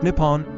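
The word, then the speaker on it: 日本: in Japanese is written using the Kian is pronounced nipon or nian hipon the original Ceno Japanese reading of the characters is favored for official uses including on Japanese banknotes and postage stance nion is typically used in everyday speech and reflects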